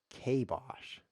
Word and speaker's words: kibosh: him it's the Kaiba it's pronounced Kay Bosh I think queen is